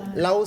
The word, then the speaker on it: Lao: prénom Lao. Là-haut s'écrit L, A, et O.